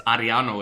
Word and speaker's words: Ariano: It's Ariano if you know how to roll your R's.